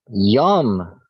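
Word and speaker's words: יום: guess how you pronounce day. I've heard this one before. Yom, Yeah, like Yom Kippur.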